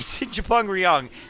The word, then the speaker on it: Chupung Ryeong: That's right, Chupung Ryeong. Apparently that's how you say it in Korean, and I'm pretty sure I murdered it.